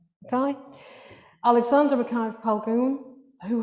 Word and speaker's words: Mackay: That would be Mackay rather than Mackie, yeah? Mackay.